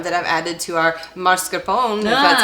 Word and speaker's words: mascarpone: some lactase enzyme that I've added to our mascarpone, if that's how you pronounce it, mascarpone, yes, to make it lactose-free.